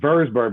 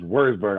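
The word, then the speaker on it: Würzburg: and i think and i thought i thought was verse bird but it was worst bird i couldn't remember it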